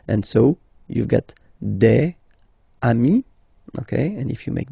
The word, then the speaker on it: amis: Even if you've got to write the S, then you don't pronounce it, okay?